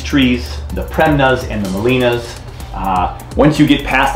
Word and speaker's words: Gmelina: in the premna the molina is pronounced molina the g is silent molina philippensis also known as